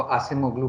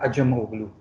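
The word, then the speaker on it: Acemoglu: और कौन होगा, अजमोगलू, आप लोग सब उसको आसिम ओगलू प्रोनाउंस करते हैं, लेकिन उसका असल नाम है अजमोगलू।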